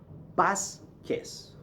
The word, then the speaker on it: Vasquez: yeah okay always okay the V as I've already said gives you a B sound okay for example my